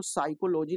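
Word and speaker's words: psychology: जाएगा इसी प्रकार से जो साइकोलॉजी लिखते हैं उसमें भी जो है पी साइलेंट रहता है अब इसके आगे हम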